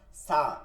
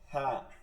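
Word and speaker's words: ف: সা, এটা ভুল শব্দ, উচ্চারণটা হবে না, সা না, এটা হবে ফা, ফা, ফা, ঠিক আছে?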